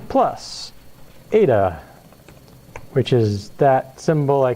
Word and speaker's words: eta: Yes, eta looks like an N with a hanging down extra line. If you want to call it N, I don't care, but it's pronounced eta. I do care. You should learn your darn Greek letters if you're going to be grad students. Learn your Greek letters, that's eta.